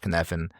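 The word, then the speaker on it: Cynefin: Um and the four stages uh is based on this uh model called the kfen model. It's pronounced kfan, but it's uh spelled c y nef i n and it goes through four stages.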